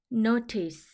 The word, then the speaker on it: notice: 혼자 소리 나서 쓰 노티스 한 번에 읽으면 notice notice 주목 주목하다 또는 안내 문이라는 뜻이에요 th n 이중 자음으로 영어 발음 기요 번대기 소리가나요 여기서는 스라고 써 줄게요